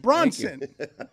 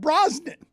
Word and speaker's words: Bronson: that that's that's whe but Bronson not broen well I I thought